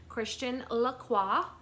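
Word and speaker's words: Christian Lacroix: and I made sure to say it right Christian laqua this is $108 on the tag it is faux leather it is a crossbody or longer shoulder bag it is brown faux leather with the CL Christian laqua um beautiful florals around the front I love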